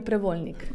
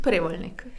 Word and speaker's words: Prevolnik: First, how is your last name pronounced? Prévolnik or Prevólnik? Prévolnik.